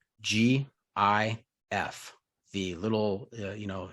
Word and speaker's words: GIF: final answer final answer gif with with the hard g gif yeah yeah is that